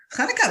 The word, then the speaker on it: Hanukkah: is a uh uh how do you pronounce it chanukah i can't hanukkah very good yeah just clear your throat yeah yeah perfect uh